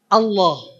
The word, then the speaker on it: Allah: yang nebel a yang nebel kayak ada lafaz Allah Allah kalau kita baca bismillah kan Allahnya dibacanya lah bismillah tapi Allah bunyinya seperti ada